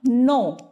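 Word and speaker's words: know: अब आप तो कहोगे मैम इसमें के भी है तो आपने इसको सिर्फ नो क्यों बोला? क्योंकि बेटे के जो है वो साइलेंट है, ठीक है, वो हम नहीं बोलेंगे, इसलिए हम इसको सिर्फ नो बोलते हैं।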